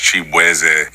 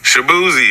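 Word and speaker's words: Chibueze: I'm Nigerian American, so my last name is actually pronounced Shaboozey. And just growing up in Virginia, like, everybody just did not know how to enunciate my name. So they was just like, Shaboozey, and I was like,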